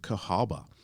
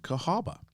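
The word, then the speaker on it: Cahawba: you about that you can visit is Old Cahaba and it's spelled c-a-h-a-w-b-a Old Cahaba Alabama now as I've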